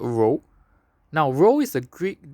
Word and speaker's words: rho: to find out more just google for row which is spelled as rho now one point one